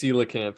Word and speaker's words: coelacanth: even say I'm like really bad it is coelacanth sorry I I just looked it up it's on Wikipedia the pronunciation yeah but that is like dude that's